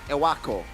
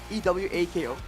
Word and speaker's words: Ewako: Ewako. E-W-A-K-O. Yeah, Ewako. It kind of like, you know, you can taste the word in a way. It's 3 syllables, you know.